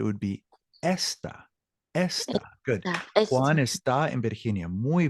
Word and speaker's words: está: Está. Excelente. Muy bien. Now, careful the pronunciation. Juan está. Juan Está en está. Virginia. Exactly. There's an accent mark to bring out that Juan está en Virginia.